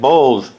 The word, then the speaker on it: Bowles: David Bold. Right? Did I pronounce it right?